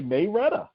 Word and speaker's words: Marietta: I think the pronunciation is Marietta, but people here say Mayretta.